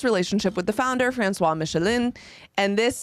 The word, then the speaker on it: Michelin: with the founder franois Michelin and this I think it's just Michelin it's michelon Michelin this is from a